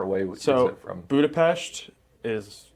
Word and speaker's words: Budapest: So we started in Budapest, but he's pronouncing it correct. It really is Budapest.